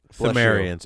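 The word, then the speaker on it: Pthumerians: by the Pithom Aryans Sumerians it's themed areas like a silent P good old silent plates a pterodactyl pterodactyls Sumerians basically contacted the old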